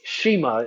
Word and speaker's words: schema: an acronym but uh it is Shima if you actually said it phonetically or how it's spelled so s c h e m a schema markup is probably